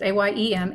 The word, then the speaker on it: AM: Nobody knows how to pronounce that. It's AYEM.